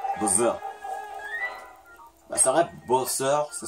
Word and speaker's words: Bowser: Quand c'est un S, mais on prononce comme si c'était un Z. Bowser.